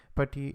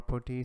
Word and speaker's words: PuTTY: use the party session party or putty sometime it is both uh can be pronounced in both ways and i'm gonna go